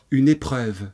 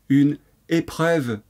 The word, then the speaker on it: épreuve: Une épreuve. Très bien. Une épreuve. Ça s'écrit E, accent aigu, P-R-E-U-V-E.